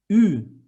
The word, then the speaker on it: Ü: And the next one is a thinner version of U, Ü, as in new, Ü.